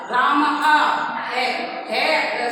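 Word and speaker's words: रामः: है का उच्चारण आता है इसका, राम है सुनने में आता है, राम है और तो ऐसे राम ऐसे बोलते हैं।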